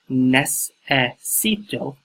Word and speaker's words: necesito: See the pronunciation right there. Number 2, the Spanish word for I need is necesito, necesito.